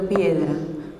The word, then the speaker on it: piedra: По-испански эти три существительных совпадают фонетической структурой. Это двусложные слова с ударением на первом слоге. Слова меняются местами, ритм остается. Agua, viento, piedra.